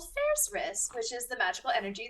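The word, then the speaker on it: Faerzress: favorite part of the Underdark, which is the Faerzaris.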